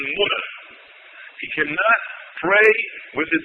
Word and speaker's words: Muna: He cannot pray in his ihram when he's at the Kaaba or Muzdalifah or in Muna, commonly called Mina, correct pronunciation Muna.